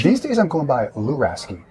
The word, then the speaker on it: Luraschi: days I'm going by allure a ski it's a it's a it's a risky it's difficult it's at a time okay so the schi is actually pronounced like a ski well call you claim